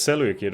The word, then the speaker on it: Seleucid: But it's Seleucid or something like that. The Greeks always pronounce the C's as K, I think.